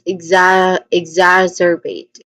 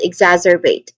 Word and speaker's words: exacerbate: That is exacerbate. Pronunciation wise, we start with egg. So instead of X, we say egg. Okay, with the letter G. Then zar. It has short vowel sound, short a vowel sound.